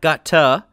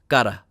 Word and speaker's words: gotta: left with gotta and this sound right here is called a flap which is a very quick movement of the tongue it's a sound that some languages do not have it's a bit gara gara gara so it's not got tough and it's not God duh it's gotta so keep that in